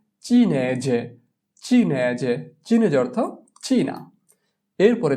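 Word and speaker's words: cinese: চিনেজে।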